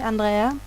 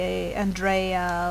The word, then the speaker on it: Andrea: Although if you are going to use it, I prefer the proper pronunciation for me, Andrea, rather than the Andrea or Andrea versions. Not that I mind them exactly, it's just not what my name is.